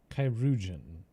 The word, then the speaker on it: chirurgeon: Chirurgeon. That's how you pronounce that word.